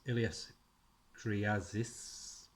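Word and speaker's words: Ilias Kyriazis: It's $3.99 by writer Andrew Wheeler, artist and cover artist Ilias Kriazis. That's how you pronounce it, honest.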